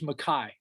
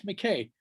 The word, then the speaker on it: MacKaye: My last name is MacKaye. I just wanted to say that I feel like it's often mispronounced.